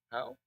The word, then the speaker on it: Howe: Is it Howe? Huff? Okay, well, it's English, so the letters could be pronounced anyway. The Huff Family Faculty Fellow and Professor of Economics here at Wake.